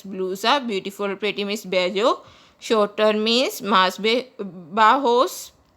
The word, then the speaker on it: bello: Guys, double L is pronounced as J. In Spanish, it is pronounced as bello.